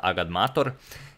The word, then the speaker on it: agadmator: can't even count but for those of you who are still wondering it's actually pronounced agad mator and i'm now going